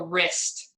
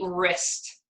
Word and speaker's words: wrist: This one is called a wrist. Repeat, wrist. Wrist. So this W at the beginning, you do not hear is silent, right? It's just the R-I-S-T, wrist.